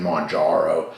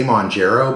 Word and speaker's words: Mounjaro: monjaro sorry I know it sounds weird me saying Monaro I I used to say mongero but people always they're Whispering me and and messaging me and telling me it's not WR it's you're pronouncing it wrong sorry anyway uh at